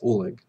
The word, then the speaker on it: Oleg: and me love him it's okay could you pronounce your name for the record please it's Oleg o-l-e-g and then last name uh the